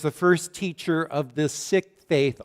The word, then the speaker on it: Sikh: first teacher of the sick Faith oftentimes it's pronounced seek Faith gurun nanic taught that